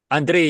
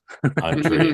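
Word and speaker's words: Andrej: Andre, you don't need to pronounce the J. That was just my dad coming through Ellis Island. Andre.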